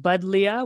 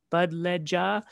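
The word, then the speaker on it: Buddleia: and we pronounce it buddlia we don't pronounce it with the j sound like an english j sound bud bud ledja but really it it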